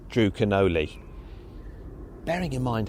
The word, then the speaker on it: Canole: It's supposed to be Drew Canole-ee, but I called him Drew Canole.